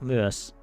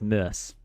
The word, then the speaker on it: myös: Ne opettelevat myös. I feel like I can't pronounce that word. I always say it as myös, but it's like myös.